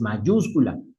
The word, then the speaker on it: mayúscula: Si pongo mayúscula, ma mayúscula termina en vocal, debería estar en mayúscula. De acuerdo a la regla, en la penúltima elen vocal deber en la penúltima debería de decir mayúscula, pero suena feo. Entonces es mayúscula, como no cumple la regla, se pone la telde, pero solo al escribirla.